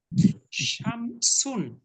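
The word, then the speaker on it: شمس: শামসুন। শামসুন। প্রথমে শিন, পরে সিন। শিন সিন।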